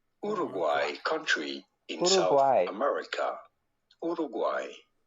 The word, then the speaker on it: Uruguay: we are looking at how to pronounce with a typical spanish pronunciation guay but in spanish uruguay uruguay country in hawaii america